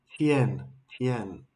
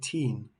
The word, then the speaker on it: Tien: Learn it. Tien tien. I've been always saying teen.